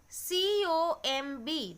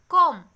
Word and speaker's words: comb: Next case also, C-O-M-B. The pronunciation will be comb, not comb.